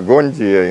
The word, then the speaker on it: гунди: Не гунди, это правильно. И ударение тоже ставят иногда на гонди, иногда на гунди.